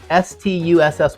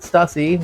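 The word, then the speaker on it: Stüssy: So the young folks pronounce it Stussy, which is incorrect. It is Stussy.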